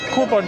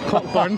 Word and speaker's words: Cockburn: We're on the Royal Mile, but there's Cockburn Street, if you want to pronounce it right, but I call it the word that no one likes, Cockburn.